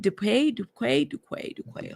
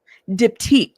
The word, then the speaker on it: Diptyque: We brought his is it Duquay? I've said this before. Y'all, some of these words throw me off. Give me one second. Pronounce. I know I've pronounced this before. Diptyque. Thank you. That's how you say it.